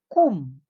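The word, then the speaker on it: 꿈: You pronounce it as strong but not overacting. Walang dapat H na sound. Okay, dapat strong. Ku. Kum. Kum. Strong but not aspirated.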